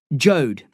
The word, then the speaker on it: Jode: Jode, Dad said. How do I spell that? The policeman asked. Jed like Toad, Dad said.